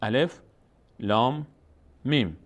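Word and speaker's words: الم: بعد چون اینجا مد داره روی لام، وقت خواندن کلمه لام بعد اون کلمه رو کش بدیم. یعنی اینطور الف لام، خود کلمه لام رو در هنگام تلفظ کش میدیم. الف لام میم. میم رو هم چون روش علامت مد آمده صدای خود اسم میم رو میاریم، اسمش رو میگیم، اسم این حرف رو، و همون اسم رو هم وقتی تلفظ میکنیم با مد تلفظ میکنیم، یعنی با کشش.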